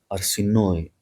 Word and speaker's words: Arsinoe: Keep in mind, by the way, in documentaries they use the version Arsinoe. They say something like this. Arsinoe is how the name is supposed to be pronounced. It's in Greek anyway. She ended up at the